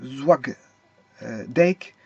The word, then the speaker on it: Zwaagdijk: Tout d'abord, ça vient de la société ZD Trading, qui est Perenmarkt 15 à 1681 PG Zwag Dijk, Oost Nederland. NL, c'est Nederland. Zwagdijk, ça s'écrit ZWAAGDIJK Oost, OOST, qui est ouest.